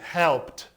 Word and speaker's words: helped: Help no passado vai ser helped, com som de T, helped.